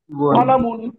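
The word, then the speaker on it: قلمٌ: কিতাবুন কিতাবুন একটি বই কলামুন একটি একটি কলাম কলামুন টান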